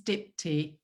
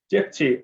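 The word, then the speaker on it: Dipti: really sorry that i don't know how to pronounce it that's okay my name's dipty dipty okay my apologies dipty um what is systemic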